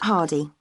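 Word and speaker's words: Hardie: yourself okay what's your name it's yes hardy can you spell that please yes it's h-a-r-d-i-e great thanks and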